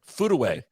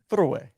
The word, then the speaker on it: Furue: I didn't food away think about putting the food away through it nope food away food away foot away Ah that's closer that's a little better